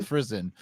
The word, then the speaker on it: Friesen: Chad's got it right. It rhymes with prison. Friesen.